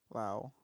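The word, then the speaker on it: Laos: Lao. Wow. The S is silent.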